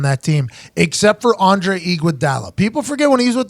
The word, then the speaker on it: Iguodala: takes well I think Andre Iguodala is that pronounced right yeah I heard both different way Iguodala I think Andre Iguodala is the most underappreciated